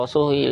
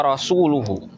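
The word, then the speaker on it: رسوله: Kalau di dalam Nas yang tertulis itu bacanya begini, wa rasuluhu. Tetapi dalam bacaan yang salah, jadi ada orang baca itu dengan bacaan kasroh, ini salah ya.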